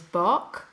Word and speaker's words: Boch: And the surname is Bock, but it's spelled Boch.